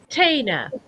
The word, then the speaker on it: Tina: I was saying Tana. It's Tina.